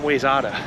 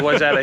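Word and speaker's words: Wayzata: comma wetta which by the way it's not way so if you're looking at it on a map you're welcome it's called wetta here that's a very very uh unexpected way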